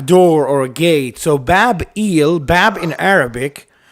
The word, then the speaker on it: Babel: eel that's it it's it's the same name bab eel so e is the god of Babylon so it it's Babel it's Babel Babel but it's it's eill